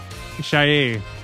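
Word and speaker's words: 谢: Shay. That was Mandarin. Shay. That's how you say it.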